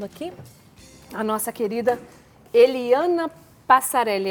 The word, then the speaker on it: Passareli: Estamos recebendo aqui a nossa querida Eliana Passarelli, é assim mesmo que pronuncia, doutora Eliana Passarelli, supervisora técnica dos programas de defesa da cidadania da Secretaria de Justiça e Cidadania.